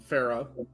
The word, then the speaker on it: Farah: Farah. Like Farrah Fawcett, Farah Yeah, okay. Winslow. but not necessarily Farrah Fawcett. Spelled be. differently, but yes, pronounced the same.